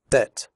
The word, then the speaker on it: debt: Debt. In the word debt, the b is silent.